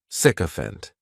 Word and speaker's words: sycophant: has three syllables and the stress is on that first syllable the spelling May throw people off to the pronunciation but that as is just pronounced sick sycophant the meaning of a